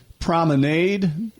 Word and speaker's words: Promenade: And by the way, if you just tuned in, we're talking about the Promenade. Does not rhyme with lemonade.